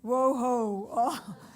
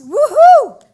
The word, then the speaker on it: Woohoo: I hear our officer our name pronounced woohoo whoa-ho but it's woohoo and it's amazing and